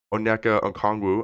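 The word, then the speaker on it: Onyeka Okongwu: I can never pronounce Ona anangu I think is how you pronounce it he had 12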